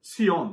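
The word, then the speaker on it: ציון: Tzion, né? É uma letra em hebraico que é muito difícil de pronunciar, porque é uma mistura entre a letra T de tatu e Z de zebra.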